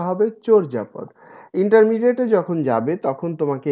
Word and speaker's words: চর্যাপদ: নট চর্যাপদ, চর্যাপদ, উচ্চারণটা হবে চর্যাপদ।